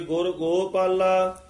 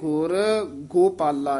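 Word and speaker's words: ਗੁਰ ਗੋਪਾਲਾ: दयाला, सुख सागर मेरे गुर गोपाला। ये भी थोड़ा जा ध्यान नाल उच्चारण करना है, सुख सागर मेरे गुर गोपाला, इन गुरगो नहीं कह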